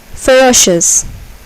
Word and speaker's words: ferocious: Ferocious. Ferocious. Here, the second syllable is accented.